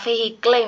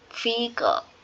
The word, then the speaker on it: vehicle: Vehikle, kata vehikle misalnya eh ternyata kata vehikle itu yang benar pronunciation-nya menurut Bule adalah vehicle dan itu menarik buat aku.